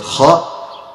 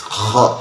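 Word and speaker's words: خاء: The closest place from the throat to the tongue is this place. Kha place. Okay, so kha, also air, it comes out when you pronounce it. The thing is that we need to make our best of efforts to centralize the voice to come from this place. Like someone is snoring.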